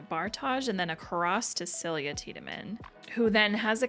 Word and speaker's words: Silja: Celia, that's how it would be pronounced.